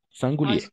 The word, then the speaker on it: singulier: On va prononcer masculin, singulier.